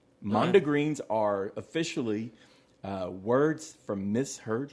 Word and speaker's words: mondegreens: It's called mondegreens. Mondegreens are officially words from misheard lyrics. How do you spell that? M-O-N-D-E, like monde, like the French word, and then E-G-R-E-E-N-S, mondegreens.